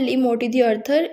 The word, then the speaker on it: Le Morte d'Arthur: हैं हम जो की तो इसका नाम है ले मोत आर्थर इसके स्पेलिंग यहां पे मैंने लिख दी है जिसका